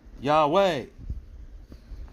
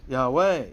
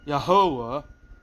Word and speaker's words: Yahweh: tell you things where the emphasis of most Hebrew words are going to be on the last syllable. Yahweh. Yahweh, not Yahovah.